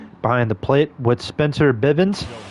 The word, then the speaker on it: Bivens: the plate with Spencer Bivens Bens uh Spencer Biven that's that's the right way to say his name is on the